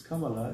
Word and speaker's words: Kamala: They don't even know how to pronounce. It's Kamala.